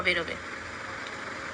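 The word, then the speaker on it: باء: আলিফের বলে দিলাম একটু আগে যে আলিফকে উচ্চারণ করতে গেলে একটা ভিতর থেকে একটা হাওয়া বের হবে। ঠোটের গালের ভিতর থেকে একটা হাওয়া বেরবে এবং দুটো ঠোটের মধ্যখান থেকে সে হাওয়াটাকে বের হবে।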